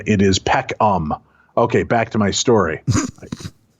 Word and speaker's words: Peckham: To save you from the trouble of pronouncing his name, it is Peckham.